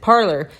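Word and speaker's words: Parler: why I researched it so they pronounce it parlor and the people who design the app pronounce it parlor so it it doesn't really matter how it's supposed to be pronounced in the French like there's somebody I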